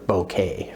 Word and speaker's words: bokeh: quality of that called called the bokeh or bouquet for those who would rather pronounce it in that way okay so let me